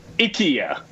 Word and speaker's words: IKEA: Yeah, IKEA. That's how you pronounce it.